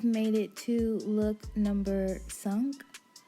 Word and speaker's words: cinq: So we've made it to look number sunk. Sunk is how you say 5 in French, by the way.